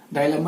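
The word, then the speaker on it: dilemma: दिमाग काम ना करे, जिसको हम डिलेमा बोल सकते हैं एक तरह से। क्लियर? डायलेमा इसको प्रोनाउंसिएशन कर देते हैं।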